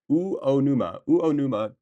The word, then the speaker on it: Uonuma: Um, do we have any rice farmers from Unuma, Japan, in the Niigata prefecture? U O O Uonuma, Niigata.